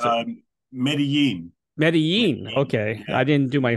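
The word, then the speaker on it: Medellín: in Colombia now you're from how do you pronounce it is it medelin or how do you pronounce it um meden meden okay I didn't do my homework there what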